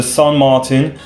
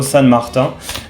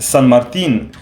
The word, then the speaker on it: San Martin: things about you know people trying to pronounce san martin they are trying to pronounce it in french i really don't know why they are trying to pronounce san martin in french so i'm i'm hearing them trying to say san martin you know san marta in french that's how you pronounce it i'm french i know but uh sun means uh saint in spanish in fact so i don't think